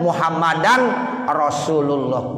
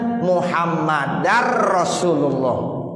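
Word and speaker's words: محمدا رسول الله: Asyhadu alla ilaha illallah wa asyhadu anna muhammadar rasulullah. Muhammadar rasulullah. Tanwin, suara tanwin udah nggak ada lagi, udah nggak muhammadan rasulullah, nggak begitu, tapi muhammadar rasulullah. Tuh, jadi tanwin kalau ketemu roh itu idgham bila gunnah.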